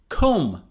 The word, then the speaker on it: comb: thumb not thumb or comb comb so you comb your hair let's comb our hair comb not comb or comb it's comb comb your hair or the